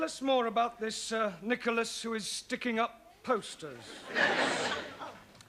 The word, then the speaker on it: Nicholas: upon a times there was a man called nickel ass that's not quite right no no once upon a time there was a woman called nickel ass it's pronounced Nicholas all right once upon a time there was